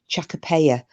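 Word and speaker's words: Chachapoya: But when we were talking last night about those cloud warriors in South America, the I pronounced it wrong, but it's apparently it's pronounced Chacapaya, the cloud warriors.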